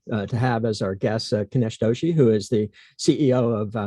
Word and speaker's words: Kinesh Doshi: we're very excited to have as our guest kanesh doshi who is the ceo of axion labs did i pronounce that correctly good good thank you for